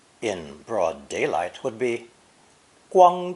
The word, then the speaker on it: 光: This character is pronounced first tone, 光, 光, and today means glory, honor, and brightness in general.